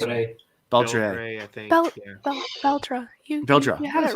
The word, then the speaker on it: Beldre: I can't pronounce it. Beldre. Beltray, I think. Beldra. Beldra. You had it Yes, right. Yeah, Beldra.